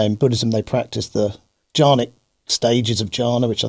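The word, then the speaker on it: Chan: to china it was it's termed jan which is spelt c-h-a-n john buddhism is the buddhism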